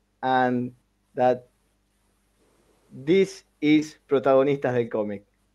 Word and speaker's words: Protagonistas: But I would like to that you say your name and that this is Protagonistas del Comic. Say it again, though. What is it? How do you pronounce that? Protagonistas.